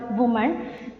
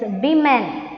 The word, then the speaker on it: women: If there is only one girl, one woman, we should say woman. But the plural will be women. Okay. What is the correct pronunciation? It's not woman, it's women.